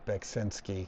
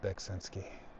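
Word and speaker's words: Beksiński: due to the influence of Beksinski, or Beksinski, I think is how it's pronounced. I always say it the wrong way. I don't know. It's spelled very confusingly, but he's an amazing artist.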